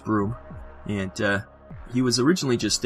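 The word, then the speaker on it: Bruttenholm: People don't know how it's pronounced Broom.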